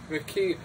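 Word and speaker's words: Makee: Covenant and the McKee, sounds like Star Trek, McKee, but it's spelled differently, there's no Q in it, it's M-A-K-E-E, are determined to steal.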